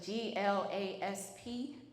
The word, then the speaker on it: Glasp: I know I'm saying it right, but that's my accent coming out. So it's GLASP, yes.